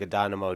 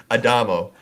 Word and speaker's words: Adamo: A Dynamo? Nope. Added an extra syllable. Adamo. Adamo.